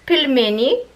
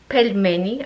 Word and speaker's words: pelmeni: be new for you this is pilmini in ukraine that's what we call pirmini pelmeni i would say even pilmania in russian um now for english